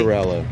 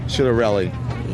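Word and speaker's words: Ciattarelli: Did I correctly hear that the um Republican opponent in New Jersey, his last name is actually pronounced Chitterelli? Chitterelli. Chitterelli.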